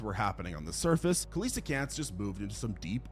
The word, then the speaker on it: coelacanth: The Coelacanth had been playing the ultimate game. Wait, that's how you say it, Coelacanth? Why the hell have I been saying Coelacanth my entire life?